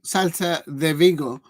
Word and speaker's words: Celta Vigo: script in hand it's ended here RC sgo selta thego is actually pronounced right with um Vince gate Crystal Palace